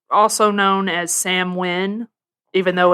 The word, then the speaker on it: Samhain: it's a pagan holiday it's also known as samwin even though it's san it's written as samhain but no i've learned it's pronounced samwin okay damn i did not know that i